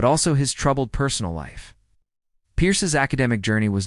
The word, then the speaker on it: Peirce: Charles Sanders Peirce, often pronounced Peirce, was born on September 10, 1839.